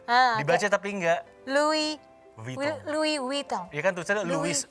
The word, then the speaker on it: Vuitton: Louis pakai E, Louis Vuitton. Vuitton. Pakai W, Vuitton gitu.